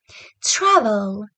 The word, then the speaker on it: travel: important listen to me the way I pronounce the word travel travel travel well the first part of that is stressed well keep it in